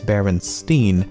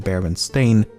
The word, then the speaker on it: Berenstain: First of all, I actually had to re-record this segment multiple times as I found myself pronouncing it Berenstein even when I should be saying Berenstain, and I've never even heard of the franchise before making this video.